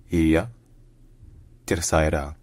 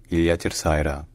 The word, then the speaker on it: Ilha Terceira: So locally, in Portuguese, the island is called Ilha Terceira. Ilha Terceira.